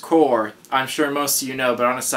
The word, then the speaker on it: Corps: are calling it collector corpse it's actually pronounced core I'm sure most of you know but on a side note for especially people that aren't from America it's pronounced core just a side note